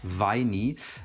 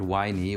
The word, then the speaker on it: Winey: he's a German streamer, In German it's pronounced Weini, and it doesn't sound like the English word whiny, which I don't think is something positive, but you know, that's just how you would pronounce it in English, I guess.